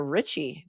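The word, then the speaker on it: Rizzi: but then during trial they were pronouncing it Richie but I would pronounce it Richi you know because I'm part Italian and the prosecution's theory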